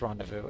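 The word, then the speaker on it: rendezvous: Yeah, that's rendevous is how you say that. Or dendu. Um, anyway, let's go. It's French. Yeah.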